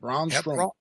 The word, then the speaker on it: Braun Strowman: I think you got it, Braun Strowman.